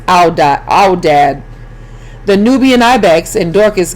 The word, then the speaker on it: aoudad: The largest wild animal in Egypt is a bearded sheep, or aoudad, pronounced aoudad.